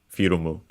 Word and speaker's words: フィルム: Yeah, it's accent on the first syllable, so like in English, firmu, firumu. Of course, by the way, we get ru because in English, in Japanese, we don't have the sound L, so it becomes the closest